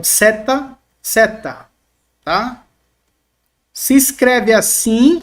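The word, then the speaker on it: ζῆτα: se escreve assim mas o som dela por mais que nós temos aqui transliterado no Z no português o som não tem o som de z pelo menos aqui na gramática oio rega ele vai trabalhar com o som de ds ds tá Edson como DS alguns TM como som de DZ tá DZ algumas gramáticas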